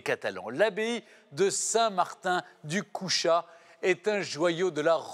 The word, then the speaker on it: Cuxa: Et oui, ce qui est encore plus normal, c'est que ça s'écrit Cuxa et ça se prononce Couchat. Eh bien, à la catalane.